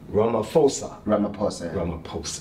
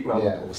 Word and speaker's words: Ramaphosa: I was watching today, excuse me if I mispronounced his name, Ramaphosa. See, he said the P. The lady yesterday said, don't pronounce the P. She says F. You see? Anyway. Oh, you see? Ramaphosa.